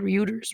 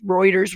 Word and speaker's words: Reuters: helicopter gunning down ryu we every you ders is the called Reuters Reuters Reuters it's spelled like Ryu ders but it said anyway